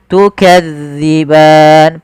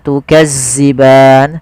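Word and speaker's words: تُكَذِّبَانِ: tukadziban pada lafal Zal hati-hati ya teman-teman jangan sampai dibaca dengan Zai jangan tukazziban sering terjadi yaitu mengganti huruf dalal dengan Zai tukazziban tukazziban ini sering terjadi kesalahannya harusnya tukzi tipis dalalnya tidak ada desis tukan kemudianfal ban ada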